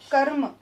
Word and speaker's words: क्रम: उच्चारण करके देखिए, क्र, क्र, र के साथ अ का उच्चारण आ रहा है, मतलब कि र पूरा है, र स्वर सहित है।